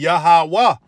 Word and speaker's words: Yahawah: yahawa all right and when you see it in the Hebrew like I said it's yahaa all right but of course the W and the are connected it'll be yahawah all right the son's name